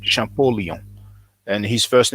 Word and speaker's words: Champollion: Now in French we say Champollion, but in English you pronounce it Champollion.